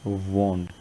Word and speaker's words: wand: और कुछ को लगेगा कि वॉन्ड भी, ठीक है, लेकिन इसकी स्पेलिंग क्या है, WAND, लेकिन इसको बोलते कैसे हैं, वॉन्ड। तो वॉन्ड और लैंड अलग अलग तरह की आवाज़ है।